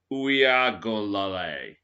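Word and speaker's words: Uiagalelei: All right, so it's pronounced DJ Uyagolale.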